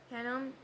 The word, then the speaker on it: Hinnom: Verse 10, and he defiled Tophet Tophet which is in the valley of the son of How to pronounce Hinnom? Hinnom that no man might make his son or